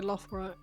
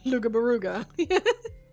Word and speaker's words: Loughborough: People who are abroad trying to say Loughborough and saying Lugabaruga.